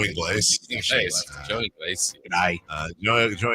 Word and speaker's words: Ingles: It's pronounced Joe Ingles.